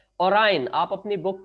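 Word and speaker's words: Orion: सकते हो, वो है ओरायन। इसको कई बच्चे ओरियन पढ़ेंगे, बट इसको एक्चुअल प्रोनाउंसिएशन इसका क्या है, this is called the ओरायन, ठीक है।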